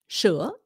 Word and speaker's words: sữa: The reason they say sh is because the S in proper Vietnamese is pronounced like an SH. Sh. Okay? Like milk, sữa.